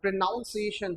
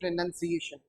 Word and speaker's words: pronunciation: और and this is not pronunciation, this is pronunciation।